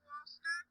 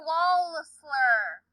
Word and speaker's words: Walsler: Walster, enjoy your time here. The bathroom's downstairs. It sounded like you said Mr. Walster. I said Mr. Walster. Stir? Mr. Walster. It's Mr. Walsler. It's how I pronounce it.